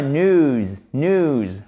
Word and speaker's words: news: Il n'y a pas de i pour le prononcer, ce n'est pas news, c'est news. Alors effectivement, le e, la façon dont on le prononce, ce ou long, ça se rapproche du i, donc on a l'impression de l'entendre, mais il n'est pas là. C'est bien news. En phonétique, c'est ça, n-u-z, ok?